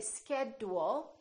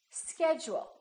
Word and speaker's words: schedule: we say educate education schedule we don't say schedule we say schedule one more word individual repeat after me individual